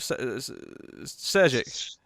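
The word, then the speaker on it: Šejić: Sejic.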